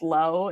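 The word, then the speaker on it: Looe: in Low Places oh I think it's pronounced low it's l-o-o-e l-o-o-e interesting okay yeah well I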